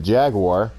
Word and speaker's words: Jaguar: this same thing with the Formula 1 car Jagua or as we pronounce it Jaguar lot of cool cars here too especially the